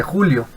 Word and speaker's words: joule: sistema internacional es el 'you'll en algunos casos también se le dice julio que se abrevia con una jota mayúscula se pronuncia el 'you'll nombrado haciéndolo en honor